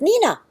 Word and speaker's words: Nena: So, you see the word Nena, you pronounce it Nina.